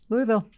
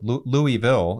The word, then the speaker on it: Louisville: So Louisville is three syllables. So Louisville, Louisville. Actually, it's L O V U L. That's the I think it's probably more Louisville.